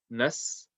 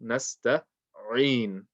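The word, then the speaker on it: نستعين: Speaking of the ayn, make sure you pronounce the ayn as clear as you can. So don't say nasta'in. In is wrong because you're not reading ayn, you're reading a hamza.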